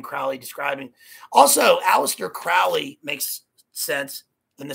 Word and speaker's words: Aleister: It rhymes in terms of its assonance.